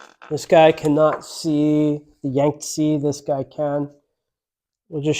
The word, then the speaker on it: Yangtze: You mean the Yangtze? Yangtze, yeah.